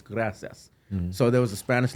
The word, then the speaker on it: gracias: Chubbs told the lady gracias or whatever, or he said gracias. I said, hey, you said it wrong. It's gracias.